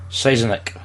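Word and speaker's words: Sienkiewicz: Let me pronounce this properly. Siznik.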